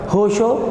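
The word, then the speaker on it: Honshu: अलग अलग लोग का अगर वो लोग बोलेंगे तो होंशु, क्योंकि उनकी भाषा ही अलग है, हम लोग इसको होंशो बोलेंगे।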